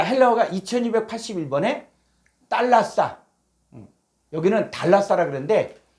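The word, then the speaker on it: θάλασσα: 자, 헬라어가 2281번에 달라싸. 여기는 달라싸라 그러는데 요게 떼타거든요. 떼타는 쌍디귿 발음을 하게 됩니다. 그래서 달라싸. 자, 달라싸인데 이 달라싸가 바다란 뜻도 있는데 쭉 한 번역된 거 보니까 마태복음 4장 15절에 해변, 바다.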